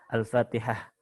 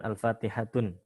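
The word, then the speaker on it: الفاتحة: Seperti misalkan Al-Fatihah bukan Al-Fatihatun, Al-Baqaratun tapi Al-Baqarah.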